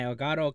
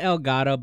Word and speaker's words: Elgato: It's Elgato. It's just the name of that company. They don't like it being pronounced in Spanish for whatever reason.